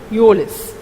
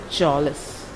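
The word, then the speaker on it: mjölis: And this sound, O, with two dots on top of it, is actually U sound. Okay, Julis.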